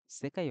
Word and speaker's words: そ: আমরা এখানে হীরাদানা যে অন্যান্য বর্ণন ব্যবহার করেছি এটা কিন্তু শুধু কা এবং পা কলামের যেটা আমরা আগের দিনে শিখেছি সেকাই অর্থ ওয়ার্ল্ড অথবা পৃথিবী সেকাই একটা তিন স্ট্রোকের